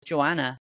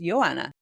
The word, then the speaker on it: Joanna: Because I had a friend in Poland who I called Joanna for years. And eventually one day I thought to ask her, is that how it's pronounced? And she says, no, in Poland it's pronounced Joanna. Yeah. I was like, no way. Blew my mind. But she's just so used to all of us pronouncing it Joanna that she just let it slide.